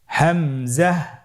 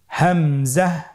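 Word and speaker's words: همزة: পরবর্তী হরফটির নাম হামজা হামজা হরফটি উচ্চারণের ক্ষেত্রেও বারিক করে উচ্চারণ করতে হবে এবং এখানে টেনে পড়া যাবে না দ্রুত পড়তে হবে আপনারা আমার সাথে বলুন হামজা জাহ হামজাহ হামজা হরফটি উচ্চারণের স্থান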